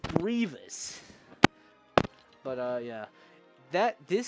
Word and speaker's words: Grievous: It's like, bro, it's not it's grievous.